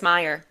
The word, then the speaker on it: Mayer: Mayor. I remember that. It's funny because mayor is how they say it in the pilot and then every episode after is Meyer and she addresses that.